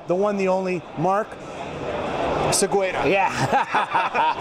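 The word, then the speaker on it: Osegueda: from the USA, the one, the only, Mark Oseguera. Yeah. Pronounce it for me. Pronounce it for me. Oseguera.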